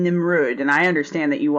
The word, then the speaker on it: Nimrud: something real quick so you guys are saying nimrud and I understand that you also mean the word that a lot of people pronounce Nimrod I know it's a mispronunciation but I just